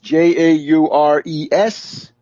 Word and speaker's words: Jaurès: socialist leader Jean Jaurès, Jaures, with a little accent on the last E, and he was assassinated